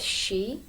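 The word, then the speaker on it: sídh: I think yeah so the word she um it's spelled s i with a fod or like an accent and then uh DH so you'll know it from the word bansi which is like a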